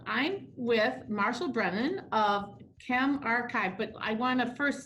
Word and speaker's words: ChemRxiv: me and so yes so it's chem archive and so the story